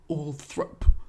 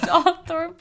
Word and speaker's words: Althorp: from people being like, it's actually Althorp, and like kind of dragging us for it. But do you know what? 1-star reviews because we pronounced Althorp wrong.